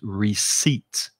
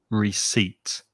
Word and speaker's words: receipt: have bought something also notice in the word there's a silent p that you do not pronounce so the correct pronunciation is receipt receipt is jumping ahead jumped